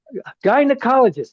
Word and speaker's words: gynecologist: Gi gynecologist. Gynecologist. Remember remember to pronounce that word like the name. Good. Not the letter.